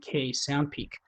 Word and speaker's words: sndpeek: It's spelled SNDPEEK, SoundPeak.